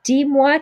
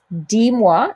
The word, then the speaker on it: dis-moi: Dis-moi, so notice you're not pronouncing that S on the end of D because that's a verb and we don't pronounce S's at the end of verbs.